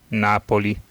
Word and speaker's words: Napoli: out check this out Napoli there you go that's the Italian pronunciation he sounded really pissed